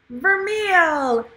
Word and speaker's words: vermeil: Vermeil.